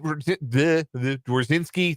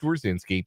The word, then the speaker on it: Dorinski: Brennan Dorinski, that's how you say his name. I haven't forgotten just cuz he's been gone for a day or two. His last name is pronounced Dorinski.